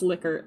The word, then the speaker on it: Likert: I'm so sad that this is pronounced Likert. I know the guy's name is Likert, but I want to pronounce it Likert. Likert just sounds so much nicer to me. But it's Likert. So I'm sorry, I'm going to say Likert for the sake of accuracy.